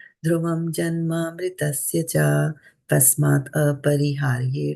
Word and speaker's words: dhruvam: And I don't know how you pronounce this one, dhruvam. I somehow heard it as dhruvam. So just dhruvam. dhruvam, that's the right one.